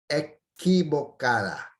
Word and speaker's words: equivocada: Equivocada. Notice the pronunciation here with the Q-U-I. It's ki, not qui.